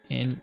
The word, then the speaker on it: and: And I could say and like in an because the D is silent.